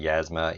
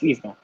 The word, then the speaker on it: Yzma: Some people say Yasma, Yzma. No, it's Yzma.